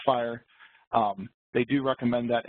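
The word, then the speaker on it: FHIR: however they do recommend the fhi spec which is I guess pronounced fire um they do recommend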